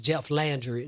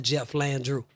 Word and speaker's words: Jeff Landry: had pronounced you um the governor's name wrong is Jeff Landry not Jeff Landrew yeah close close enough